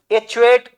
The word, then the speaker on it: achiote: एचुएट पढ़ो, जैसे पढ़ो इसका प्रोनाउंसिएशन ACHIOTE।